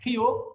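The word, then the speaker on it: 키읔: ওকে, এরপর আছে আমাদের খিউক। খিউকের উচ্চারণ দুইটা, হ আর ক। যদি এই খিউক নিচে বসে তাহলে তার উচ্চারণ কি হবে? ক, ক।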